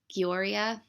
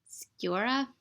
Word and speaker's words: Sciorra: It was Ron Eldard, who I remember from ER, and how do you say her name? Annabella Sciorra? No, Sciorra.